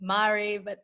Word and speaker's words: Maree: Linh: Thanks so much for your patience and I made a mistake pronouncing your name, your name is spelt Maree, but it's Maree.